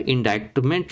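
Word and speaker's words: indictment: इंडाइटमेंट मतलब यहां पे फिर मैं बता दूं सी साइलेंट है। इंडाइटमेंट लिखते हैं लेकिन इंडाइटमेंट बोलते हैं।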